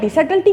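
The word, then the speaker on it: subtlety: तो सटल्टी का मतलब होता है, इसमें बी साइलेंट होता है, सटल्टी ऑफ महमद का मतलब महमद की मक्कारी।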